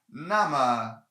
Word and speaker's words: 那: thing here they cannot this na can not print cannot be pronounced nay it's always na uh so if if